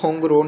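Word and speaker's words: 통과: ہیں؛ اسے دیکھو، 'tong-gwa'۔ اس کا تلفظ 'ٹونگ-گوا' ہے کیونکہ اگر بیچیم میں 'جی' ہے اور یہ 'حقیقی' سے شروع ہوتا ہے تو یہ 'این' کی طرح لگتا ہے۔ تو یہ ' ٹونگ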